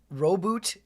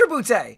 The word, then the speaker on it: Roboute: One, the Ultramarines are not as actual pronunciation. Roboot Gillaman. Okay. Oh, no. Rabbout. It is Rabbout.